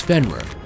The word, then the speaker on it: Fenrir: destruction of the Gods the pronunciation of his name is fenworth according to the myth